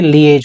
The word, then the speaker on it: liaise: इसकी जो प्रोनाउंसिएशन होती है लिएज होती है।